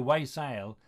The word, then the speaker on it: wassail: down in his notebooks he wrote it down w-a-y-s-a-i-l from people way sale and the gloucestershire way sale is definitely way sale but people pronounce it